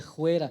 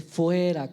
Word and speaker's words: fuera: ni hablar pod es no se dice juera se dice fuera con f fuera le dijo seiga